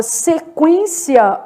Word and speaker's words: sequência: pronunciado u é nulo já na palavra sequência Olha o que que tá acontecendo se quência eu tenho um dígrafo mas é o en o u é pronunciado tá Vamos separar as